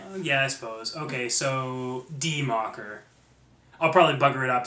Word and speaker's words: Die Macher: So first of all, the name of the game is actually Die Macher, not Die Macher.